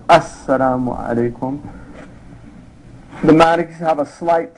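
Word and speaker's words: السلام عليكم: The sitting position, saying the final salam once to exit the prayer, so it's pronounced Assalamu alaikum.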